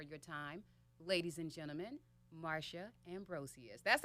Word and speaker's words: Marsha Ambrosius: thank you for your time ladies and gentlemen Mara Ambrosius that's how you pronounce her name Americans we've been screwing it